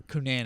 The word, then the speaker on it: Cunanan: Yeah, Dylan Cunanan or Cunanan. It's Cunanan.